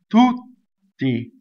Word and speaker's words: tutti: Now notice we have two double T's in this word because there's strong monosyllable A. So we double the first T and the second T. A. Tutti.